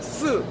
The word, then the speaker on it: 四: 4는 쓰, 10은 스 이렇거든요. 발음이 거의 비슷해요.